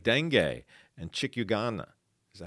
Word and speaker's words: chikungunya: All right, like dengue and chikungunya. Is that how you pronounce that, man? Chikungunya.